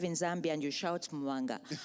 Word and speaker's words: Mubanga: The B specifically in Mubanga, that there is no hard B in Bemba.